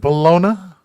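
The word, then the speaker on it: bologna: get that it's smoke is it bologa or is it baloney Balon is the proper pronunciation well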